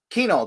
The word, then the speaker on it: Kuehnel: In Warren, Michigan, the man himself, Matt Kuehnel.